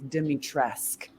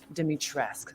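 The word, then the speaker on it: Dimitrescu: let's start with you and how do you pronounce dimitrisku am i doing it right there's a lot of conversation about that this is a hot topic uh according to capcom our official pronunciation is dimitressk demitresque so lady dimitrisk and yes yes yes so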